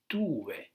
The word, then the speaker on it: tuve: First of all, because there is no stress on the vowels. So that will mean that the stress is on the stem. So you say tuve.